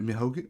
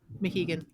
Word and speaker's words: Mohegan: The next one looks like was it Mihogan? What is it? The new... Sorry, you're muted. Who, me? Yeah. Mohegan. Mohegan. I knew I was getting that first syllable wrong.